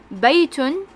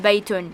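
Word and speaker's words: بَيْتٌ: don't really say the we don't really pronounce the last sound okay which in this case is tun right we don't really say ha the baitun in real life when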